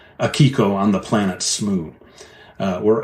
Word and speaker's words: Akiko: And I came up with this story called Akiko on the Planet Smoo, or Akiko, you will hear me say sometimes, the Japanese pronunciation.